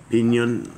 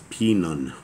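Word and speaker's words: Pinon: Duke Elah, Duke Pinyon, Pinyon, I think I missed that. That's Pinun. Pinun is how you say that. It actually says Pinun.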